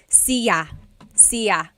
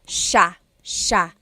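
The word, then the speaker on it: siya: It looks like it should be pronounced cia sa but it's actually pronounced sha sha.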